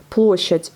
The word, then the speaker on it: Площадь: Площадь. O est bien accentué, ça se prononce comme un O. Et donc là, à la fin, on a aussi un D qui est sourd. Hein.